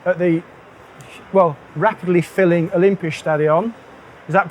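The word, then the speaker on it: Olympiastadion: here in Berlin at the well rapidly filling Olympia stadion is that pronounced correctly excellent um so my name is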